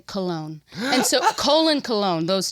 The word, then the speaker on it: Colon: It's spelled C O L O N. How would you pronounce that? Colon. Colon. But he made us say cologne.